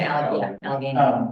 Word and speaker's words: Allegheny: We say Allegheny.